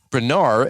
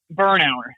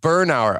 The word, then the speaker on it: Bernauer: well today we got none other than Bernard if I said it correctly with TJ's law